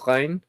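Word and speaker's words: reine: of streaming oh yeah the french word for queen is is it it's spelled that way it's rain rain or is it yeah okay yep that's what it is i see thank you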